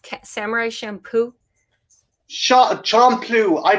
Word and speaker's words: Champloo: Samurai Champloo. Shampoo? Samurai Shampoo? Champloo. I pronounce it weird. No, I wasn't sure if I was hearing it right. Champloo.